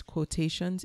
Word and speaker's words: Kwohtations: Etsy shop right now again it's quotations it's spelled k wo h ta TI o NS and it's a play on Janine's last name which is quo KW